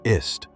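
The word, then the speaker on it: Aset: Her Egyptian name wasn't actually Isis. It's the Greek version. The ancient Egyptians pronounced her ist.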